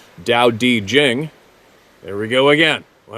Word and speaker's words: Tao Te Ching: The Tao Te Ching states, pronounced Dao Di Jing.